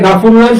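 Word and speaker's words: غفور رحيم: যেমন আল্লাহ গফুরুর রহিম, কেউ যদি বলে গাফুরুর রহিম তো ভুল বলছে, ঠিক আছে? কি হবে? গফুরুর রহিম।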